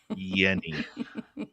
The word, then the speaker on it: Jeni: Yeni.